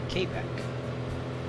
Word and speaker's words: Quebec: say Kobe. Yes. Okay. Some say Kbeck, which is the I think that's the French pronunciation, but in the Americanized version.